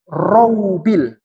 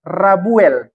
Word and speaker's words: Roubil: Itu kalau di internet saya baca Rabuel, terbalik itu. Tidak begitu bacanya. Ro dulu baru wow. Bukan ro baru ba. Dulu saya curiga juga itu. Ini Roubil atau Rabuel. Roubil yang betul.